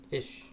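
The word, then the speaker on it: Fisch: like it's like it's it's fish but it doesn't it's not spelled like fish it's f i s c h I guess that's still fish Jed fish from Arizona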